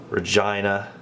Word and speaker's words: Regina: So we're gonna go all the way from Winnipeg through Saskatoon, Regina, I can't believe it's pronounced Regina, Calgary, Edmonton, then all through these mountains, Jasper and such, all the way to Vancouver.